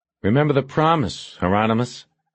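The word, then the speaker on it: Hieronymus: Heronmous rhymes with anonymous."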